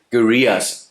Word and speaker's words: guerrillas: The next big thing, pronounce it like gorilla.